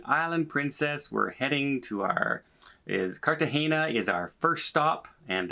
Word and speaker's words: Cartagena: We're heading to Cartagena is our first stop, and that's how we pronounce it, by the way. Apparently it's not Cartagena, it's Cartagena. Okay, I will pronounce it Cartagena as much as I can remember to do that.